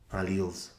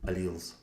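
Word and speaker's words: alleles: different versions of genes are called alals. If you want to call them alles, you can but cuz it doesn't make a difference as long as you can write it correctly. But the British pronunciation is alles.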